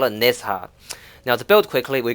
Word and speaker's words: Nezha: Warframe, so for the time being, we're gonna pronounce the H and call it Nezha.